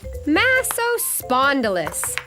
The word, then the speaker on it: Massospondylus: You say it like this, Massospondylus.